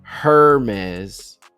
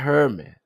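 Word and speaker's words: Hermès: Otherwise that E would be totally silent and so would the final ed. This is very Hermes. Hermes Hermes. Yeah, not Hermes.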